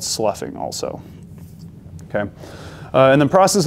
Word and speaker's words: sloughing: It's S-L-O-U-G-H-I-N-G. Does not make any sense when you spell it, but sloughing is what it's called.